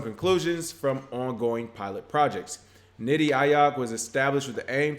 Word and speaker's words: Niti Aayog: It looks like a policy think tank of the Indian government, Niti Aayog, Nitiaayog, so that's the way I'm pronouncing it, has released its national blockchain policy